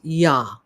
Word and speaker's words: Yod: And the number 10 for a tenth is associated with the number, or the letter Yod, Yah, pronounced Yah, okay?